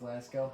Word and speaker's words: Lasko: Fiasco rhymes with Lasko, ha?